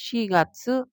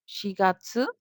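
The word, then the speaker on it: 四月: আবার পড়ছি ইচিগাৎসু। গাৎসু হচ্ছে এখানে মাস। গাৎসু। ইচিগাৎসু, নিগাৎসু, সানগাৎসু, শিগাৎসু, ওগাৎসু, রোকুগাৎসু, শিচিগাৎসু, হাচিগাৎসু, কুগাৎসু, জুগাৎসু, জুইচিগাৎসু, জুনিগাৎসু। তাহলে এখানে স্পেসিফিক হচ্ছে শিগাৎসু, ইচিগাৎসু এবং কুগাৎসু।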